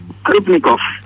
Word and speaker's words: Crupnicoff: ¿Cómo se pronunciaría? Klubnikov. Bueno, Klubnikov.